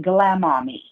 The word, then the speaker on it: Glama.me: It's Glama, GLAMA.me. You pronounce it Glamami.